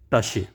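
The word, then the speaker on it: Tasche: को कहते हैं और प्रोनाउंस इसकी होगी टश स्टूडेंट्स इसी तरह जो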